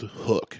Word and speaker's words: HUK: He's like, it's pronounced hook. I was like, then why didn't they just spell it with 2 O's?